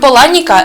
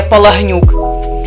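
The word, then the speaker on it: Palahniuk: і оселився в нью-йорку сам автор каже що його прізвище слід вимовляти як Поланік хоча й Не заперечує що оригіналом є Полагнюк сам Чак Україну досі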